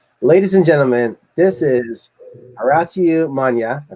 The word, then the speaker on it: Horatiu Manea: Ladies and gentlemen, this is Horatiu Manea. I pronounced it right this time, right?